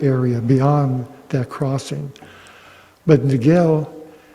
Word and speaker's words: Niguel: beyond that Crossing but Niguel in Spanish the G is very much pronounced like a w so it' be na